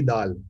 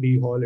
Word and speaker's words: Dhall: That day I was going through a talk and someone was pronouncing it as D-Hall. So it's not D-Hall, it's not Dhall, it's not Dhall, it's Dhall, Dhall Roti, Dhall.